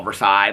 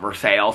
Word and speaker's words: Versailles: And then there's Versailles, which we would all call Versailles, but they call it Versailles.